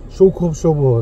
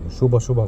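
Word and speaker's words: 쇼크업소버: 이렇게 변형되면서 쇼버 하는데 쇼바란 말은 사실 쓰지 말아야 되는 말 말이고요 쇼크업 쇼버 있데 원래는 이게 발음이 제대로 안 되니까 일본 애들이 발음 받침 발음 못 하잖아요 그래서 쇼바라 그런 겁니다 줄여 가지고 쇼바 쇼바 그러는데 잘못된 표현이고 원래는 쇼커 쇼버 좀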